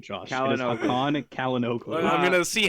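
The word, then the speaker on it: Çalhanoğlu: It is Hakan Kalinoglu. I'm going to see how many different pronunciations I can come up with over the course of the 90 minutes.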